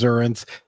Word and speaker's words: Xurrent: of the company first of all you've already pronounced it properly as zuren and what is this crazy madeup word mean